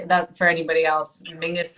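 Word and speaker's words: Menzies: for anybody body else Mingus is how weirdly the Scottish people um that's that's how they would pronounce menes I don't understand where the G comes out of it but that's it is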